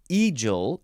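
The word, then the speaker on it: egal: how you say it it's a spelled e-g-a-l sounds like the bird uh adjective from The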